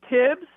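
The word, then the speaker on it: Thibs: everybody says tips but it's spelled with the th so are we doing the silent h thing yeah it's tibs but the full name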